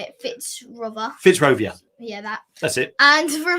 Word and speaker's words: Fitzrovia: even know how to say it fits robert fitzrovia yeah that's it and for more information visit